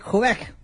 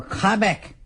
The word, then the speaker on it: Quebec: From out of Quebec, or Quebec, as I hear they love it, how you pronounce it, when you go to Quebec as a wrestler or a manager, and you want them to boo you, you say Quebec, because they really hate it.